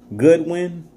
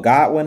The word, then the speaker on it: Godwin: Goodwin, or Godwin, however you say his name, I think it's Goodwin.